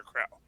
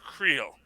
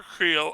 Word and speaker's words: Creel: gets a slightly a Wade pass, it's Crusher Krell. Like, if anyone deserves to be on the Thunderbolts, it should be Crusher Krell. Sorry, Crusher Creel. Crusher Creel.